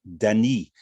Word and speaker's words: Danis: susan is american born her heritage is french and she told me that the pronunciation originally is danny so i will use